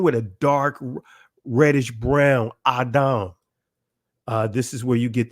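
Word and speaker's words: אדם: So we see here, and you see the ancient Hebrew pronunciation of this word would be Adam, right? In the Israeli, you see Odim, right? Guess what? It's not Odim, right? It's Adam. Come on, family.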